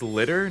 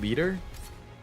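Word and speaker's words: Liter: lter is here wait her name is litter not leader oh my God do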